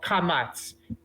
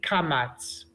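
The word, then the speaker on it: קָמַץ: it's the awesome right the comics is the vowel that makes the ah sound oh so when we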